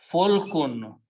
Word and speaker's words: fulk: If you put a fatah on lam and fa and pronounce falakun. Falakun means orbit. Okay. But if you pronounce it differently, fulkun. Fulkun means a ship or a boat.